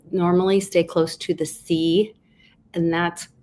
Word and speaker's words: See: So notice he says normally stay close to the sea, and that's the holy city, the Vatican, Rome, is called the sea.